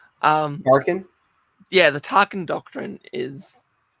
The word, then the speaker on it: Tarkin: And I mean, you've got to remember what the sort of Tarquin... I don't think I'm pronouncing that correctly. Tarkin?